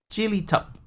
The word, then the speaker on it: Jelly Tip: It is jelly tip weather or jelly tip. I have to say it like a local. Jelly Tup.